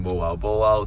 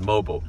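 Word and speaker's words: Moalboal: here in Moal Boal. So you guys actually taught me this last time because last time I pronounced it as mobile.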